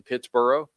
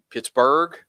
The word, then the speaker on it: Pittsboro: So uh Ben, it is in Pittsboro, not Pipsy, uh not uh Pittsburgh.